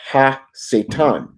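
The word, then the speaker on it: הַשָּׂטָן: But if you actually go into the Hebrew attributes of him, his name is pronounced Ha-Satan.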